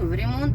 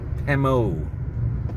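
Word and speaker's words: ремонт: Remont is fixing the old. Right. Or remodeling. Yeah. And if you read it phonetically in English, it would be sounding very French. It would say Pemo or Pemote.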